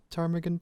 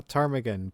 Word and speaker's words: ptarmigan: it's not yeah yeah it's ptarmigan I think it's a crime again oh the P is silent yeah I guess so